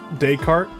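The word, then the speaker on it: Descartes: Descriely changed the A to an O and then added an A after the R and said Socrates by said daycart.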